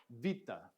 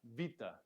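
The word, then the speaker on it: βήτα: this letter is and you can kind of make that a strict V sound or you can make it a BV kind of sound so it's Vita Vita often we hear it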